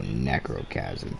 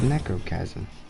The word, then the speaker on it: Necrochasm: Because my pea shooter I have is trash, so let's get the Necrochasm. Or Chasm, or however you pronounce that. It says Necro, and I think that's Chasm. I think the H is silent.